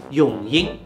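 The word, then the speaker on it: 荣幸: 扎台行，这个行也是赢，所以荣幸正确的读法永英。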